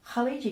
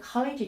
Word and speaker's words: khaleegi: the name Ki uh you can also spell it with a J uh the J is actually the standard transliteration of the gym um but in Egypt the that sounds more like a g so you often see it spelled with a G and the first letter is the and that's like the sound in the back of a Lo the Scot word Lo is not as deep